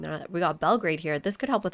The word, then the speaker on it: Belgrade: We got Belgrade here. This could help with our happiness, too. Belgrad, right? Belgrad, not Belgrade.